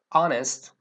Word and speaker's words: honest: Beginning Sounds y also there are a few words that begin with a silent h that are preceded with n for example air ays honest like an honest person